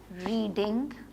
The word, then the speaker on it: read: Spelling same ही होते हैं लेकिन इसको रीड नहीं पढ़ते. सेकंड फॉर्म रीड की रेड होती है, उसको रेड पढ़ते हैं, लेकिन लिखते RED नहीं है.